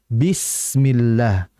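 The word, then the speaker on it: بسم الله: kemudian berikutnya ketika tadi bismillah jangan bism jangan jangan gitu langsung saja Jelaskan vokal I pada kasrah bismillah bukan bisis bukan tapi bismillah kemudian berikutnya terakhir hati-hati Al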